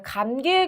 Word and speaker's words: 감기: 자, 감기의 경우에 우리가 이걸 감기라고 잘못 발음하는 경우가 꽤 많아요. 그런데 얘를 이응으로 바꾸어서 발음할 만한 그런 근거가 없습니다. 그렇기 때문에 얘는 자, 본래 우리가 표기하는 그대로 감기 이렇게 적는 것이 맞겠죠.